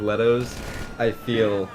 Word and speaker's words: Leto: Leto playing The Joker it's that's how it's pronounced Leto Leto Leo no it's Leto I told you multiple times that it's Leto still pronouncing Le all